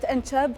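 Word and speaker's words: إنچب: كلمة أنشأب تنقال بحرف ش واضح وتعطي إحساس قوي يوصل المعنى مباشرة بدون مقدمات.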